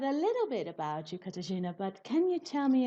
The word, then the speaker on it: Katarzyna: i already said a little bit about you katajina but can you tell me a little bit